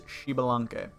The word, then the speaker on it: Xbalanque: really it's really difficult it doesn't look like that's what it's what it say but if you go to his voice pack you'll hear him and pronounce his own name and it is shalan now he is a pretty